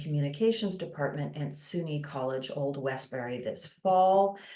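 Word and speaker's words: Old Westbury: old Westberry this fall I'm sure I butchered that I'm sure there's a New York way of pronouncing that but welcome Byron HT thank you so much and though you did not butcher it it was it was perfect it was perfect okay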